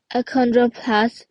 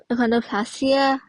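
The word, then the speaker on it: achondroplasia: alies it's often due to the mutations so a condop acondroplasia sorry I pronounced wrong is a form of the d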